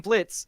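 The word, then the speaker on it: Blitzø: name is blit I'm Blitz the O is silent and then Loop's like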